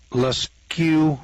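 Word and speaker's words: Lascaux: in altamora spain uh leskew france that's spelled l-a-s-c-a-u-x i guess that's q france and then ribba let's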